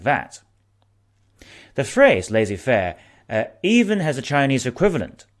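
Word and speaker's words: laissez-faire: in economics people use the french word laissez faire i'm trying to pronounce it lazy fair to represent the economic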